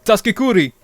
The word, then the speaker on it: Taskikuri: Taskikuri, everybody listening, Oh yeah. if you want to spell it, go to your browser on the very top, type Taskiquri, Taskikuri, or Kuri. That's how you say it.